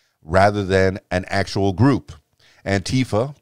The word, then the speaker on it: Antifa: Antifa, pronounced Antifa by some, Antifa by others.